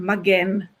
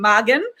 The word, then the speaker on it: Magen: the wrong mistake that I was always pronouncing your name Magen, but it's Magen. So please, any of you remember it's Magen. It's never Magen as we are used to.